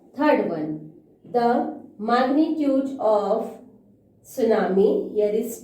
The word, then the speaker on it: tsunami: इसको हमने यहाँ पे लिखने में, when we will write the spelling of tsunami, we will write T, but when we will pronounce it, T is silent in this word.